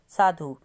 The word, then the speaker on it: साधु: है उसके बाद साधु अब साधु में हम बड़े उ की साउंड को लिखेंगे तो गलत हो जाएगा क्योंकि हम साधु में ध उ की मात्रा को जल्दी से बोलते हैं साधु तो धा पे छोटे ऊ की साउंड है उसके बाद है अगला